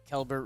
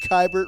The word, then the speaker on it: Keibert: Josiah Gray and Keibert Ruiz were the return to the Washington Nationals Keibert. in exchange. How do you say that name? Why do I put an L in there sometimes?